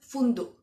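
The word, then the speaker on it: فندق: Egyptians pronounce it funduk. They don't say sound k at the end.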